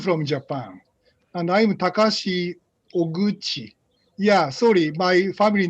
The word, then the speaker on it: Oguchi: Yeah, sorry, my family name is hard to pronounce, so yeah, she said Ogukai. That's one possible way. And some people, particularly, for example, French people say Oguchi instead of Oguchi, but this is Chi, yeah.